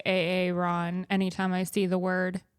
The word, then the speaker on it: Aaron: sense and then at the end it's like Aaron Rogers and he's like a a Ron rod rod gears I still say AA Ron anytime I see the word or the name